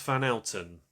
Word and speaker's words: Van Houten: He is Milhouse van Houten. It's spelt Van, then Houghton. Van Houten.